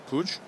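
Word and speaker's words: Puig: Many different ways to pronounce that for those with that surname. Monica Pigs tennis for ESPN pronounces her name that way. And here we have Mr. Puj. Does it matter where in Spain you're from? Well, if you're from Catalunia, if you're from the Basque country, there's many different places that you could pronounce it differently as well.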